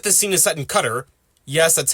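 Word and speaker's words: Qatar: Knowing that the scene is set in Cutter, yes, that's how it's actually pronounced, the movie gets it wrong.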